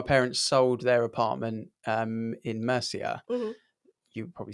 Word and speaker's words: Murcia: You definitely didn't nail that. Just FYI. That's how they say it out there. Murcia.